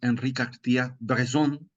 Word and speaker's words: Henri Cartier-Bresson: sí la pronunciación es Henri Cartier-Bresson para la pronunciación correcta del francés, es un fotógrafo de